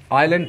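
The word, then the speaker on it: island: silent क्यों कर दिया एक और शब्द है जिसे आप आयरलैंड पढ़ने हैं आज इसमें एस साइलेंट होता है तीसरा रीजन देखते हैं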